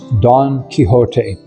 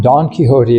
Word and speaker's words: Don Quixote: the greatest book I ever read and it's pretty long is Don Quixote. Have you ever heard of it? No, never. It Don Quixote, it's spelled d o n q u i x o t e.